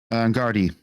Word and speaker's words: Gardaí: A Garda spokesperson, is it Garda or Gardaí? Gardaí. Okay, but it's spelled Garda.